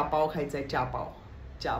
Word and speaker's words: चहा: खायचा आहे चहा पाव चहा पाव नाही चहा चहा आणि पाव हे एकत्र आपण करू शकतो पण चहाला आपण चहा नाही चहाच म्हणूयात तसच चमचा चमचा चमचा नाही